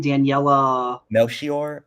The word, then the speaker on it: Daniela Melchior: How do you pronounce her name again? Daniela Melchior.